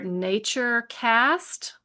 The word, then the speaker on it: NatureKast: And a couple manufacturers that you can look at are NatureKast, and that's with a K, NatureKast with a K,